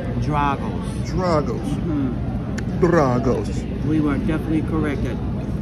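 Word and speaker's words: Drago's: um that's it so we were saying it wrong the correct pronunciation is draggles struggles we were definitely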